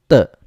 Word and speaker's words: 的: and letter E, but it is pronounced as letter T without air, and the E there is actually the so it should be read as 的.